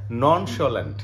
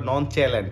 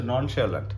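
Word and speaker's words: nonchalant: এটা গ্যারেলাস এটা হচ্ছে নন সোলেন্ট নন সোলেন্ট অনেকে ভাবতে পারে নন চ্যালেন্ট এরকম না হ্যাঁ জিআর এই ভোকাবুলারি পুরা উচ্চারণটাই অন্যরকম থাকে এটা হচ্ছে নন সোলেন্ট এই নন স্যালেন্ট মানে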